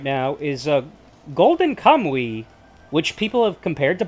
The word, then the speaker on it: Golden Kamui: It's more yes, Golden Kamui. It does sound like that. That is how you pronounce it.